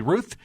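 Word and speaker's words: Routh: says the guy was Ryan Wesley Ruth. Or Ralph, I've heard it pronounced both ways, and he had an AK-47.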